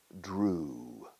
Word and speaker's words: drew: EW casi siempre se pronuncia como una U pura, una U. Grew. El pasado de dibujar, to draw, drew.